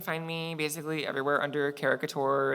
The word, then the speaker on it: Characouture: Yeah, and then you can find me basically everywhere under caricature. It's the H is silent, but I promise it's there.